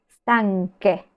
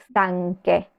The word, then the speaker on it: stanche: lunge usando la gh pasa lo mismo con stanca cansada el plural es stanke pero cómo se escribe stanke usando la c con la H sí siempre que respetemos esta